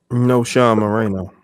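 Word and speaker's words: Knowshon Moreno: No Sean Moreno.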